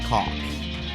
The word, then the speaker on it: caulk: I don't pronounce the L in salmon, and he doesn't pronounce the L in caulk.